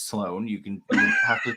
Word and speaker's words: Sloan: people call me and I'm like, it's Sloan. You have to pronounce the 04.